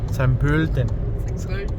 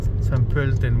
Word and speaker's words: Pölten: San Pölten. San Pölten. San Pölten. San Pölten. San Pölten. Bueno, ya vieron cómo se dice esa O umlaut.